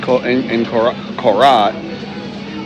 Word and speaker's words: Korat: In Korat, trying to pronounce the R. I copy the tone of the locals, so I tend to say Korat, but it's really Korat.